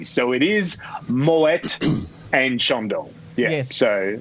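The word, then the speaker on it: Moët: guy's name, Claude Moet, that's a Dutch name where they pronounce the T. So it is Moet and Chandon. Yeah. Yes. So if anyone goes around saying it's Moe, make sure you throw a champagne flute at them.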